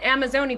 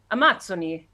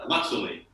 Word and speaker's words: Amazzoni: So, I kept calling it Amazoni, but it's actually an Italian, it's an Italian Brazilian gin, so it's pronounced Amazzoni. is that right? That's Okay. right. Amazzoni.